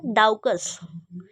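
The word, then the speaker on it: Daucus: तो इसका जो नाम है डाऊकस।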